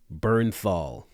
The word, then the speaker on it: Bernthal: episode 1916 with wait for it because I've mispronounced this name a lot John Bernthal bang shout out to all the people who